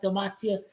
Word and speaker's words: gematria: And Browns does have gematria of 28 too.